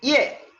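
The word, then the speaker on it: 夜: Por eso el cambio ortográfico es que debo escribir una Y con una E. IE, en cuarto tono.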